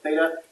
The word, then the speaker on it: theta: is called symbol as theta it's a Greek letter it comes to the Greek alphabet and it makes a th sound in that house that's